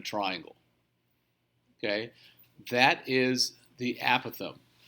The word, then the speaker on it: apothem: Apparently, the correct pronunciation is the apothem. Okay? Although I will say that for years I was around people who said it apothem.